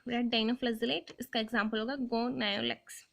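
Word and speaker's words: Gonyaulax: और रेड डाइनोफ्लैजेलेट गोनायुलेक्स, आप जैसे भी इसके प्रोनाउंसिएशन करना चाहें आप देख सकते हैं, मैं तो इसको गोनायुलेक्स बोलती हूँ।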